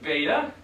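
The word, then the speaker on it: βῆτα: As a beta or beta? Beta. With a long name like pronounce it.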